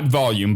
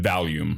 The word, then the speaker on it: Valium: Not volume, but Valium.